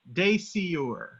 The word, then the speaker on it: Dasyure: how do you pronounce it? Dasyure.